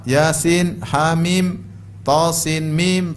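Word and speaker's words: يس: ya contohnya lagi apa Yasin thha jangan dibaca thah Bacanya apa th ha Yasin dibaca jangan dibaca Yas tapibacanya ya Yasin ya kemudian th Sin mim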